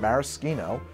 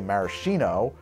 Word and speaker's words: maraschino: far as I know, bartenders that I have met use the word maraschino when we're talking about the liqueur or the imported cherries, because that's the Italian pronunciation, right? And if you say maraschino, it's understood to be shorthand for American-style preserved cherries, which are nowhere near